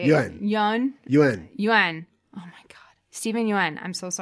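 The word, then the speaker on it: Yeun: Yuan.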